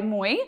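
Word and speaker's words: Moooi: me this horse is made by Moy it's spelled m-o-o-o-i and it's actually two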